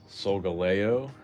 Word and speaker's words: Solgaleo: Solgaleo is how it's pronounced.